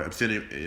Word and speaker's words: obscenity: he was never, charged for the extortion or obscenity, I can never pronounce this word, goddamn list.